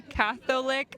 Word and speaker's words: Catholic: Yeah, we don't say Catholic. We don't pronounce the O. We just say Catholic.